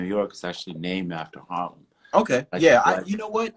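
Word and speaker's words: Haarlem: born in palem it's Harlem and and um it's the same as Harlem you know in New York except it's got to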